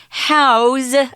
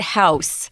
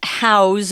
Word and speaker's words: house: notice here we're using house as a verb don't pronounce it house it's if it's a verb to say this is where you're going to put something it's house with a z house roughly 72,000 tons